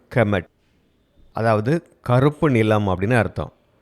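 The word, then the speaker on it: Kemet: இதனுடைய உச்சரிப்பு கெமட், அதாவது கருப்பு நிலம் அப்படின்னு அர்த்தம்.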